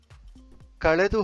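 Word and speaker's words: ಕಳೆದು: Or avaladu sara kaledu, not kaledu. You have to pronounce it as kaledu. Touch the tongue at the upper portion of your mouth.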